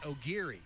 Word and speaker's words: Aguirre: Aguirre, looks like Aguirre, but it's pronounced O'Geary.